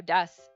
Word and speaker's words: desu: just keep saying dust it's very common to when it ends in like a ooh like a u like that to just kind of not super say it like really loud you like soften it so that's why it's i'm saying desu but i'm saying it like dust because i'm making the ooh almost like gone but that's a very